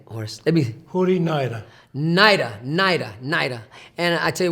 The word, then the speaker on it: Hori Naera: Hori Naera.